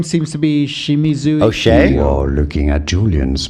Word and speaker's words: O'Shea: No, it's not O'Shea, but rather O'Shea. O'Shea, rather easy once you know.